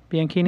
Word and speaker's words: Bianchini: Bianchini? You did. Bianchini. You did. God. I hate when people mispronounce my name.